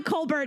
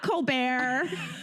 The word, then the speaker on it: Kolber: Please welcome to the show, Allie Kolber, not Kolber. Hello. Thank you so much for having me. Oh my gosh. We just learned seconds ago that we've been saying your last name wrong this whole time.